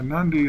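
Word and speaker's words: Nadi: of uh nandi Bay now nandi is spelled NTI n a DI but in Fijian you add an N for certain words please click on like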